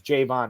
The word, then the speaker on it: Javon: on X today that the Patriots media guide says pronounce Jayvon as Jayvon and not Javon like I've been doing it this whole time which sounds weird but